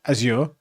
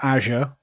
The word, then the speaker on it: Azure: IT person, is Microsoft, which is Azure, or Azure, depending on where you're from, they pronounce it differently, or AWS.